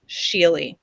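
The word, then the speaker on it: Skjerli: name was sheily and it is not at all spelt how you think it's spell it's s k j e r l i sheely and i adored him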